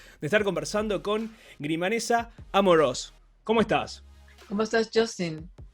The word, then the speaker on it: Amorós: Porque me imagino que viviendo hace tanto tiempo en Nueva York, el tilde no se pronuncia, pero hay una tilde ahí en Amorós. Sí, no, perfecto. Amorós.